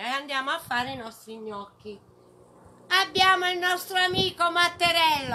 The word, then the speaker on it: gnocchi: So, small pieces of gnocchi, which in abroad I heard the people call them gnocchi, but it's gnocchi, the real pronunciation.